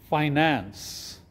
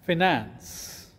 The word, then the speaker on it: finance: on the screen is pronounced as finance not as finance